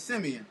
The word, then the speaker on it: Simeon: Broncos Seaman played well that's how I pronounced his name when I first heard it but I was like Sean but oh it's Simeon I'm sorry I'm sorry but it's Simeon I I I was warn a man that mispronounced your your name for a long time so I'm glad I know it's Simeon now not I do it